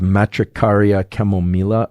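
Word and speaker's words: Matricaria chamomilla: I think that the proper pronunciation of this is matricaria chemila.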